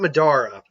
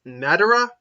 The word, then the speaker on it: Madara: it okay it's either it's not Medora okay I say it Madera but I know it's not it's Madara Madara it's not quite